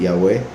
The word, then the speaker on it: Yahweh: El nombre Yahweh es el verdadero nombre, la verdadera pronunciación del nombre de nuestro Creador, el nombre que aparece